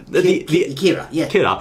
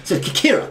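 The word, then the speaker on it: キラー: called k k k it sound like a Michael Jackson kir now the enemy called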